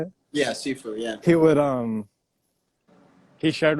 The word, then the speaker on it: Sifu: Yeah, Sifu.